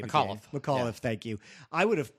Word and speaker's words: McAuliffe: But if I'm Macaulay, say his name again. McAuliffe, thank you.